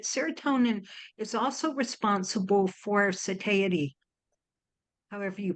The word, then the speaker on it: satiety: One of the things that we don't talk about a lot is that serotonin is also responsible for satiety, however you pronounce that word. Satiety.